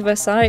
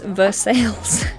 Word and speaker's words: Versailles: Oh, if she could only hear the way other cities are pronounced. Going to Versailles? No, it's Versailles.